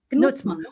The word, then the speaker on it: Gnutzmann: Knutsman. O G se pronuncia. O G, na verdade, você fala como se fosse um K.